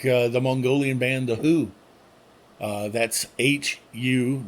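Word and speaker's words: The Hu: I like the Mongolian band The Who. That's H-U, not the other band. It is pronounced the same, but it is not the same band.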